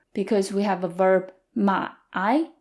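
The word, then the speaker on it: 买: pronunciation my I is third tone so there's a dip in the middle Ma I and my is fourth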